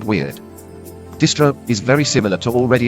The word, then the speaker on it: distro: Stri would typically be pronounced similar to the beginning of street or stripe. Stro, on the other hand, would be pronounced similar to the beginning of strobe, which isn't exactly the same but close enough in American English that we'd rather say distro than distri.